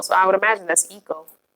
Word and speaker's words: Eko: oh okay and am I saying that right Eko cuz it's two e's in a KO so I would imagine that's Eko it's beautiful whatever it is I love it Oh Eko it's pronounced Eko oh I don't see how would I never